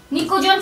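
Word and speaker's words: pnicogen: ठीक है, ये निकोजन फैमिली होगी, इसको पी से लिखते हैं जबकि पी इसमें साइलेंट रहता है, निकोजन फैमिली।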